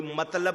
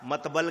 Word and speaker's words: مطلب: لفظ کو ادا کرنا، کچھ لوگ ہو سکتا ہے اس کو تفضل کہہ دے، تلفظ نہ کہیں، کوئی مطلب کی جگہ مطبل کہہ دے، ہوتا ہے نا ایسا،